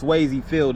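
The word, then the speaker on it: Swayze Field: called swayy field so it's swayy field it's pretty much like Patrick suy but it wasn't named after him but it's spelled the same way as Patrick suy and again it's home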